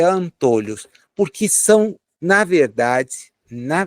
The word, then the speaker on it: antolhos: Antólios, a depender da pronúncia que a pessoa queira dar, né? O correto é antôlhos, porque são, na verdade, na verdade duas peças que limitam a visão.